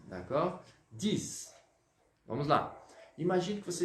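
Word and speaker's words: dix: Vamos pronunciar o X aqui como se fosse o som do S, d'accord? 10.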